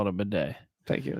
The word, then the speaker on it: bidet: It's spelled bidet, but we'll call it a bidet.